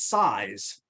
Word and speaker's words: CISE: We are called the College of Integrated Science and Engineering, CISE for short, which we pronounce SISE.